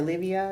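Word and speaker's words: Levieva: Margarita Levina, or Livia is how you pronounce her name.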